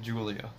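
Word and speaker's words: Giulia: Today, my boy Alex lended me the keys to his Alfa Romeo, and I'm sorry if I butcher this, Guilia. Pronounce it Julia.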